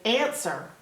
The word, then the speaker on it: answer: excite word is answer if it was spelled phonetically it would not have that w in it the W is silent if I said that